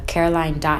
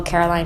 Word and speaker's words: Caroline: get your neighborhood yes they pronounce my name all the time wrong they say Carolyn Caroline no no they always say Carolyn or Carolina people would say Carolina did I say it